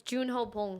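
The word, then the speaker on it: Bong Joon-ho: Bong, oh wait, it's Junho Bong.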